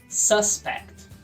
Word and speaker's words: suspect: Suspeito em inglês, sílaba tônica primeira. Suspeito é suspect. Repeat. Suspect. Verbo suspeitar, sílaba tônica é a segunda, suspect.